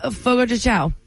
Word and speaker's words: Fogo de Chão: Rob from Cedarville says, do you know how to pronounce the name of this Brazilian steakhouse? Fogo de Chão.